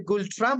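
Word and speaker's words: Ngultrum: নাম এই এন গুলট্রাম যে লেখা আছে গুলট্রাম আমরা স্পেলিং এ বা উচ্চারণে বলবো আর স্পেলিং এ দেখবো তার পূর্বে একটা এন দেয়া আছে এটাকে আমরা রিং করবো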